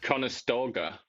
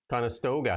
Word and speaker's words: Conestoga: Conestoga Conestoga.